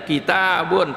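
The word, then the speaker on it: كِتَابٌ: Tapi dalam Al-Quran tulisannya enggak, kaf, ta, ba, ya, kata ba orang bisa baca, ya, kitabun bisa bacanya begitu, ya, tapi dibacanya kitabun, tulisannya enggak pakai, setelah ta enggak pakai alif.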